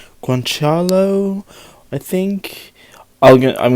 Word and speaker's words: guanciale: thanks to YouTube I looked it up it's pronounced guanciale so there you go guanciale which is a cheek lard or cheek let's